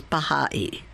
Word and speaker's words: Baha'i: rumor ends the word Baha'i means follower of the glory Baha means glory or splendor the I pronounced e means follower of so when properly pronounced it is Baha'i we are the followers